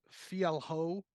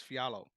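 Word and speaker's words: Fialho: his name because it's it's like Andre it's pronounced it it looks like Fiat uh Fiel ho but it's fiallo there you go yeah yeah so I always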